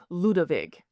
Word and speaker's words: Louis: His contemporaries would have pronounced his name something closer to Ludovic, and he didn't know he was German any more than ancient Etruscans knew they were Italian.